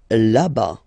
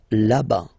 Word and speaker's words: là-bas: Là-bas. Là-bas. Remember final S not pronounced. Là-bas.